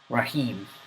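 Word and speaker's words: رحيم: right man that's the second word al rahim rahim that's the third one so notice the are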